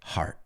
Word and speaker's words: heart: J suave, A-R-T, heart. Ya está. Heart. ¿Ves? No, ni gear, ni gear, right?